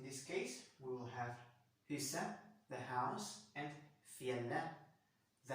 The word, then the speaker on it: huset: En hund, hunden, et hus, huset. Well, we don't pronounce the T here. We will say et hus and huset, but we don't say huset. So, yes, in this case, we will have huset, the house, and fjelle, the mountain.